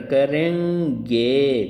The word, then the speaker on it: करेंगे: देखिए करें, ये देखिए अनुस्वार यहाँ बोलेंगे करेंगे, करेंगे, ठीक है ना।